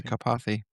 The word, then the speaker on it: Karpathy: I am afraid to Oh, mispronounce his name, Karpathy or Andre something. Karpathy.